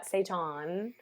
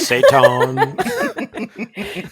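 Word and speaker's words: seitan: Do you cook with Satan? I do cook with Satan. Uh, Saton. Oh, is that what we're calling? Is that the pronunciation? Dark Lord. Saton.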